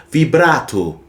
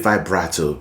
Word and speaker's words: vibrato: By the way, did you know vibrato is an Italian word and it's actually pronounced vibrato? Vibrato, but a lot of people call it vibrato, so I'll stick to that.